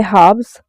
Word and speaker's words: halves: Things done by halves are never done right. यहाँ पे क्या है, halves पे L मिसिंग है, L को हम प्रोनाउंस नहीं करते, ठीक है.